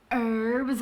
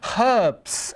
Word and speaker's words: herbs: is her I use herbs when I'm cooking or if I ever cook oh well we use herbs in our cooking so we pronounce that H herbs and we get our